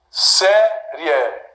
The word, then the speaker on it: série: Série. Palácio. Tiago. Sílaba tônica, penúltima.